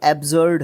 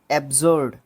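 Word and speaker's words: absurd: ये तो एब्जर्ड है, एब्जर्ड, ABSUR और D, ठीक है, डी, एब्जर्ड, एब्जर्ड बेतुका।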